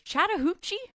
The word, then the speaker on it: Chattahoochee: Uh, black bear was discovered dead in Georgia's Chattahuchi National Forest.